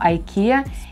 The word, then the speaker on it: IKEA: буду сильно стараться но в америке мы икея произносим как дикий а потому что это звучание по-английски и очень часто в моих видео проскальзывает от меня не икеа ikea и очень многие люди меня